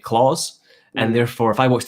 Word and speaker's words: Klaus: Klaus, I pronounce his name as Klaus with a K. But for all I know, as far as he's writing it, he's just pronouncing it Claus.